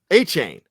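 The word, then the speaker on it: Achane: On the ground, Devon Ashani, I never know how to pronounce it. Help me out, guys. A-Chain? A-Chain.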